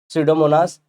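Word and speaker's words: Pseudomonas: तो बैक्टीरिया लेके आ जाते हैं हम लोग, सीडोमोनास एसपीपी। अब ये सोडोमोनास देखो पी साइलेंट है, या तो एकानिवोरैक्स बारक्यूमेंसिस, ये लोग क्या करते हैं, ability to destroy पेरिडीन्स and other chemicals.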